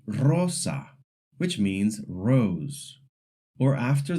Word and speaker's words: rosa: But a single R makes the ruled sound at the beginning of a word like rosa which means rose or after the letter l n or s.